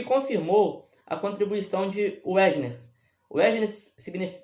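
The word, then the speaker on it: Wegener: Wesner eh se escreve justamente com W e G e N e E.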